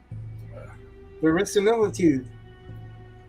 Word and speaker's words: verisimilitude: Verisimilitude. Verisimilitude? The Verisimilitude.